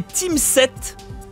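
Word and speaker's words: Tim 7: Team 7, ça s'écrit T-I-M espace 7, c'est de Ubisoft, c'est un jeu éducatif.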